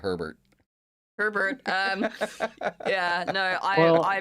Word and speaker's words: Herbert: The H is silent. Herbs. Um Unless you're talking about Herbert.